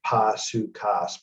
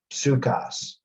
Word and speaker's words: Psukas: Or I say in the pronunciation Pasukas, but it just means the P is pronounced. Psukas is the goddess of life, healing, and medicine.